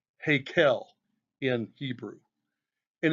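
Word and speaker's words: היכל: Verse 6 also brings up the house of the Lord, pronounced Hakel in Hebrew.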